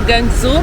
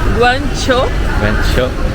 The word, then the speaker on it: Guangzhou: né ou gangu e nós conhecemos por gangu Mas eles pronunciam guango guo e Vamos explorar a